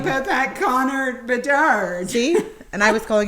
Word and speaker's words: Bedard: Conrad Berard. No, Bedard. Okay. Bedard, thank you.